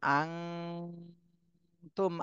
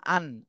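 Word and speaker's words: أنتم: দন্তন্য মতো পড়া যাবে না, অনস্বরের মতো পড়তে হবে। আং, আং তুম, আন। আন বললে কিন্তু ইকফার হলো না, ইকফা গুন্নার হলো না। এজন্য ইকফা গুন্না করতে গেলে অনস্বরের মতনই উচ্চারণ করতে হবে।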